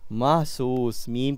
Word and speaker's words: محسوس: محسوس۔ محسوس۔ چلیں دیکھتے ہیں کہ اس کا صحیح تلفظ کیا ہے۔ محسوس، میم کے اوپر زبر ہے، ٹھیک ہے؟